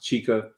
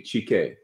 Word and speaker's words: Chike: name uh chike uh some people pronounce it chica others if you go to the continent it would be GK and of course names